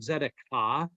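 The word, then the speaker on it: tzedakah: And you'll see on your notes there, that's a Hebrew word that is called zedekah. The T is silent.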